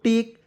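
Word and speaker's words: take: रहेगा तब लेकिन अंतिम में इ आएगा उसका उच्चारण ए के रूप में करेंगे देखिए टी ए के ई क्या पढ़ेंगे दोस्तों टेक टेक में मी क्या होता है दोस्तों लेना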